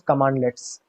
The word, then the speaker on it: cmdlets: While PowerShell has all the standard functionality command prompt for command prompt provides, it also provides access to CMDlets, which is pronounced as commandlets, okay, which are .NET classes to perform specific functions.